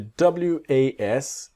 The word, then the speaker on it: was: And the W-A-S, it's like a Z, the was. Not was, but was. The other word is where, about you, we, they, where.